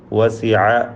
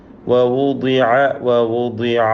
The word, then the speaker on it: ووضع: മുമ്പ് സൂചിപ്പിച്ചതുപോലെ സമിഅ എന്നത് സമിയ എന്ന് പറയാറുള്ളത് പോലെ വസിഅ വസിയ എന്നൊക്കെ പറയും. തെറ്റാണത്. ووضع الكتاب ضاد കുറഞ്ഞ തഫ്ഖീമാണ്, കസ്റ അതുകൊണ്ട് ضاد അതിൻ്റെ മഖ്റജിൽ നിന്ന് തന്നെ ശരിയായ വിധത്തിൽ ഉച്ചരിക്കണം. രണ്ട് വാവ് തുടരെയായി വരികയാണ്.